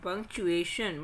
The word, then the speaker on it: punctuation: Now punctuation. What is punctuation? PUNCTUATION. Punctuation. TU is known as tuation. Here T is sh. It's not tuation. It is punctuation.